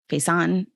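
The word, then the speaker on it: Faison: how do you say his last name fazen face on I think it's funny yeah f-a-i-s-o-n he played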